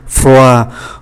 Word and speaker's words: froid: Trước hết là ký tự D nằm ở cuối từ thì không phát âm, froid là lạnh, chúng ta thấy D không phát âm, chỉ còn lại O với I thôi, froid.